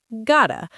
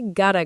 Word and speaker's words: got to: Yes, and similarly, got to becomes gotta. I gotta go.